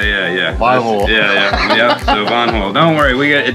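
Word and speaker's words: Van Hool: how do you pronounce I always say van hul but I love the correct way is v v van V not van H yeah yeah yeah yeah yeah so Von don't worry we got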